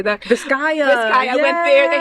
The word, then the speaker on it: Vizcaya: Vizcaya.